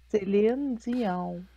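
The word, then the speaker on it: Céline Dion: I said it like everybody else says it. I know, but it's Celine Dion. Okay. She's a Quebecers just like me.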